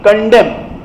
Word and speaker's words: condemn: Across the country, condemn. Condemn का मतलब निंदा करना. CONDEMN. N साइलेंट रहता है.